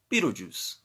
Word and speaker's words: Betelgeuse: It's spelled Betelgeuse, but we refer to this star as Betelgeuse.